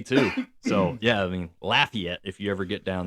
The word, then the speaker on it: Lafayette: And it's not Lafayette. Well, it's it is to me. Well, Lafayette. There you go. Lafayette is wrong. It's laugh like you're laughing like Lafayette.